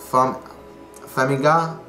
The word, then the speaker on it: Farmiga: Conjuring 2, starring Patrick Wilson and Vera Farmiga.